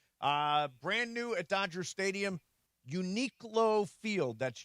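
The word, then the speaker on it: Uniqlo: So, if you're How do you pronounce it? Unique Low? Unique Low.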